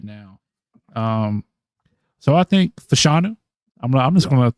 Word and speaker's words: Fashanu: How do you pronounce his name again? I couldn't tell you. I butcher it every time. Fashanu.